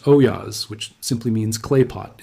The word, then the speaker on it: olla: The Spanish called these pots ollas, pronounced oyas, which simply means clay pot in their language.